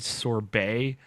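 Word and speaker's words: Sorbae: I had a quick closing topic, which we named Sorbet, but it's spelled like Bay, B-A-E.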